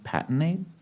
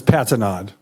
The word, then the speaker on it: Patinod: The first speaker is Dwayne Patinade. Dwayne, you wanted to correct him on the pronunciation of your last name. The last name is Patinod.